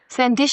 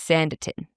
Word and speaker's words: Sanditon: That's how I was always pronouncing it, but it's Sanditin. Yeah. Interesting. There's no I after the T and it's the name of this town is Sandin.